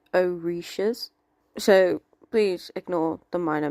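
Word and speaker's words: orishas: order to communicate and stay connected with their oshiras. This is Sophie from the future is pronounced oishas.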